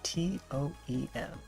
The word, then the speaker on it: TOEM: It's spelled T-O-E-M, Toem.